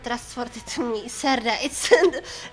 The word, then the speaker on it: Serde: It's called Serde. The pronunciation of this library is Serde, and it is a framework for serializing and deserializing REST data structures efficiently and generically.